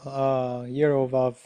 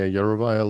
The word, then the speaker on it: Yarovaya: Per their that And Yerovov law, right? How do you pronounce her name? yeah, Yarovaya law.